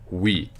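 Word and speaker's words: oui: instead of rows so the first word is wheat and it's spelled o you I but it's pronounced wheat and that just means yes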